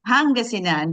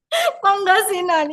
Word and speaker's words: Pangasinan: Philippine is it is it okay with my pronunciation Miss so sorry just say Pangasinan but it's okay you're good Pangasinan yes Pangasinan Philippines right yes it seems that